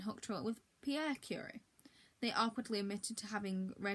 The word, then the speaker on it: Curie: Scientist friend hooked her up with Pierre Curie.